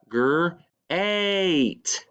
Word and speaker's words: great: e or e but listen to how we say it G8 eight has a long a sound this this word here